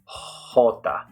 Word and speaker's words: jota: All right, so the name of the letter J is Jota. So right there you hear the sound of it in the name. Jota. It's like our H in English, and you can say it like the H if you want to. Jota, Jota, Jota. It's just a little bit raspier, I would say.